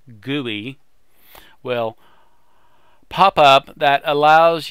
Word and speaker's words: GUI: this case the average a GUI graphical user interface pronounced gooey will pop up that